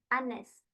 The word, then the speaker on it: honest: Jadi H-nya itu silent aja enggak usah dibaca. Like we say our hon her itu H-nya tuh enggak usah dibaca secara jelas prinis. Jadi honest, honor, our and for this